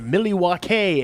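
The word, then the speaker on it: Milwaukee: way of Wisconsin in the milliwatt hay area ooh maybe you okay yeah I learned to pronounce that way from Alice Cooper you know fucking-a yeah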